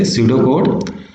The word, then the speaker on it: pseudocode: now shooter would actually the P is silent here that's why we say pseudocode pseudocode is same like